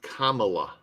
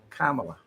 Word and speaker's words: Kamala: It's Kamla. Kamala.